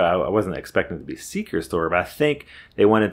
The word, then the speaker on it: XikeStor: a network switch from a company which I went to pronounce as Ze store but I decided to ask them how do you pronounce your company name and I thought maybe it could be like Zeke store or something like that but they said Seeker store I didn't expect that because there's no R